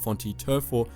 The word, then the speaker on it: Vhonte Tervho: Davin, the huntresses Rav Bralor and Vhonte Tervho [pronounced Fon-tee Ter-foh], and the Death Watch fanatics Dred Priest and Isabet Reau.